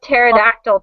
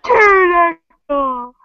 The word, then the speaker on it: pterodactyl: Pterodactyl. Yeah, my friend plays that game like all the time. I hate that it has a silent P in it.